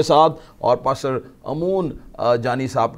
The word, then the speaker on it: Amoon Johny: मैं इनके नाम की इस्लाह भी करना चाहता हूं, मैंने शायद पहले गलत प्रोनाउंस कर दिया, लेकिन इनका सही नाम जो है पास्टर अमून जॉनी है।